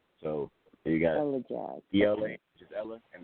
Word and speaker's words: Elajahs: It's what I tell people is you separate the ELA, and then you separate the jazz, and you put it together, and it's Elajahs. So you got Elajahs.